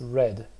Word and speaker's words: read: you know this is this is of course pronounced red because it's the past right he said he disliked